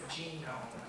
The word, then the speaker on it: GNOME: So, and their position has always been that the correct pronunciation of their trademark is genome, and that's what they were trying to do with this, you know, this differentiation of the letter G.